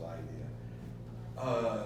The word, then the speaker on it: Lydia: were consumed by Medo-Persia, spelled with a Y, L-Y, but pronounced Lydia.